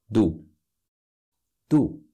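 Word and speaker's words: ду: harip Yak so last two do sounds almost like two so are you two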